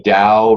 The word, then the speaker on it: Dao: learn Chinese because it's very nuanced in the pronunciation. It's more correct. So again, you see Dao written T-A-O or written D-A-O, and D-A-O is the pinyin.